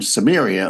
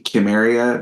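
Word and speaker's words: Cimmeria: what so would authentic it should definitely be be Kimia because it's a Greek word and they use the k sound for all of their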